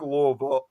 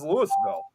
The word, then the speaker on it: Louisville: they you would think Louisville. Louisville, but it's actually they over there they pronounce it as Lewisville.